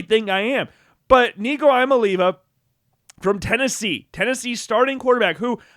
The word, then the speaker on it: Iamaleava: I mean, it's literally in his last name. It is right there that he is going to leave. Iamaleava. That is how you say that he is gone.